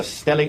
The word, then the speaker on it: stellate: And you refer to it as a stellate laceration. Is that right? Yes. And am I pronouncing that right, Stellate?